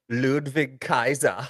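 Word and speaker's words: Ludwig Kaiser: don't say it right what's his name again ludvig Kaiser yes there you go um so anyways why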